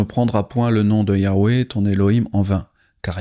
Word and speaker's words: Yahweh: Ils prennent la troisième lettre, la lettre Vav, et la prononcent comme un son V. Donc au lieu d'utiliser le son W, elles obtiennent Yahvé.